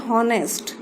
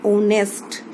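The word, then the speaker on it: honest: इस वर्ड को जनरली बच्चे पढ़ते हैं हॉनेस्ट, जबकि इसका सही प्रोनाउंसिएशन होता है ओनेस्ट। ओ पढ़ा जाता है इसे, इसमें एच जो लेटर है वो साइलेंट रहता है, तो अगर इसे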